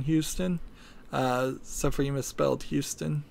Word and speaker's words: Houston: It's pronounced Houston in Texas and spelled that way, and it's spelled exactly the same way in New York. There's an area in Manhattan called Soho, which stands for south of Houston, Houston. So it's spelled exactly the same way, pronounced differently. Houston, from what I heard,